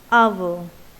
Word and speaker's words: hour: So in this case you will find H is in the spelling of hour, but when we pronounce it, it is silent and the pronunciation begins with A, hour.